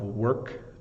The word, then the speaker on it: work: have a lot of work to do so the pronun is again work it's almost like the O is making an an e sound like uh so work